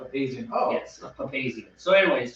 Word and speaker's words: Papazian: Yeah, all these years I've been saying it wrong, Papazian. I've heard it said so many ways that I never knew. But Trevor assured me that Papazian is Charlie Papazian as well.